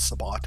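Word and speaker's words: Sabbat: faction known as the sabat I hate their pronunciation it's not sabat it's sabat uh has launched an attack on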